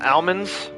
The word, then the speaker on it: almonds: Right, there's only one L. So if you pronounce it phonetically, it's almonds. But I've always heard people call them almonds, right? As if there's a second L there.